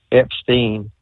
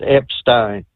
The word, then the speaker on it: Epstein: I keep hearing everybody saying Epstein, it's Epstein. And in German, if it's EI, that's pronounced as an I.